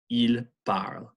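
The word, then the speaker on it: ils parlent: ends in ENT the ENT is silent L bar L bar so are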